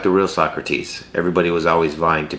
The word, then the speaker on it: Socrates: was by the great Socrates which also happens to be the name of my cat who is a big jerk but his name is pronounced so crates and if you know